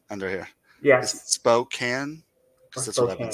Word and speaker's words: Spokane: um spoken Spokan Spokan uh um put your pronunciation under here yes Spokan that's what I've been saying by the way